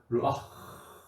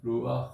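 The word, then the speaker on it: רוח: 이렇게 흑 하지 말고 르아 이렇게 하는 바람이죠 그 전에 흐라고 발음 안 나오고 예 르아 그냥 좀 이렇게 좀 세게 세게 발음해야 되 세게 우리 좀 살살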